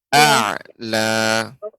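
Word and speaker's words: أعلى: A'la. Illa btigha'a wajhi rabbihil a'la. Ya, ketika mengucapkan a'la, hamzah dulu. Hamzah baru masuk ain.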